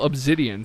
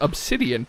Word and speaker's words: obsidian: For example, obsidian, saying it with a Z rather than an S. I know it's pronounced obsidian, but it just feels